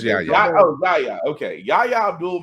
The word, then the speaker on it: Yahya: And just pull it up and I can probably pronounce it. It's Yahya. I know it's Yahya.